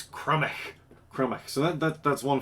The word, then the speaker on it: Crymych: into week one on how you pronounce my team name this is the crummy colossals i'll i'll i'll i'll restress that the crumbish colossals um crematch comes up uh quite frequently um it's it's it's not cremated it's crummy chroma